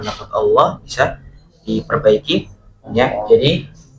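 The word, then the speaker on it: الله: Jadi pengucapan lafaz Allah itu adalah pertama, kalau yang masih pengucapannya Allah, ini kan berarti kan kita mendahulu pertama huruf yang kita ucapkan A, jelas ya, A. Kalau kita pengucapannya Allah, berarti yang kita ucapkan berikutnya adalah huruf waw, gitu ya. Baru lam, Allah, gitu ya, Allah. Nah, tapi yang betul adalah kita dari A langsung ke lam, al, nggak ada wawnya,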